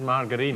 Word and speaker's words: margarine: Yeah, that is actually how it's pronounced. It is margarine.